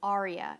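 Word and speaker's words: Aurea: yacht club price out the Aria experience which is spelled au Rea it includes a lot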